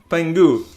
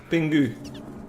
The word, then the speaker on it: Pingu: I'll tell you what, this word bingus reminds me of pengu. Does anyone know pengu? I can pronounce it more Dutch, pingu.